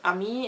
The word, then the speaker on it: Amy: and I've decided to use my German pronunciation for my name which is a me instead of Amy because Amy started female